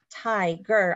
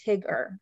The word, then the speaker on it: tiger: word um tiger right i'm splitting the syllable at the end of the or excuse me at the end of the open syllable i thai ger otherwise it would be tigger right because i would split it after the g so that's how we